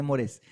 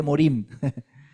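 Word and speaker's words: מורים: Agradece por tus morés, por tus no por tus morés, no se dice morés, se dice morim.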